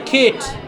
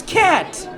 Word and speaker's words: cat: I said, it's not Kate, it's cat.